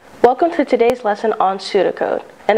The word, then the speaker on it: pseudocode: Welcome to today's lesson on pseudocode, and that's pseudo with a silent P.